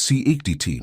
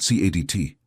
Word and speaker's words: siediti: The emphasis is on the wrong syllable. It's sie ik ti, not sie a di ti.